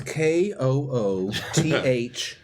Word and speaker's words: Cthulhu: Now that's KOOTHOO.